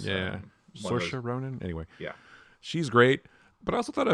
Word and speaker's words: Saoirse Ronan: I always get this person's name wrong, like Saoirse Ronan. You know what I'm talking about? Yeah. It's Saoirse Ronan.